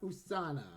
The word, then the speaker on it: USANA: I learned the correct correct pronunciation for that. It's USA not USA but USANA. Yeah. No, you USANA like USA. Sorry. USA. Yeah, USANA.